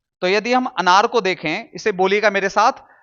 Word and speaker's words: क: नहीं बोलेंगे इसे बोलेंगे क क क ना कि का का का नहीं बोलेंगे इसे क नहीं बोलेंगे इसे क बोलेंगे क मुंह को कम खोलना है और तब इसका उच्चारण करना है क ठीक है दोस्तों